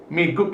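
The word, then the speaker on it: 미국: Jadi miguk ini bukan miguk, tetapi miguk, karena di akhir ini berbunyi K.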